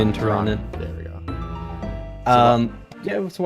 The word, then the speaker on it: Tirannwn: Why did you pick I think that's not pronouncing right. Is it Terrarian? Tirannwn.